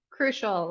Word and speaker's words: Kroushl: name for me again crucial as in it's crucial that you pronounce it correctly ha I am thrilled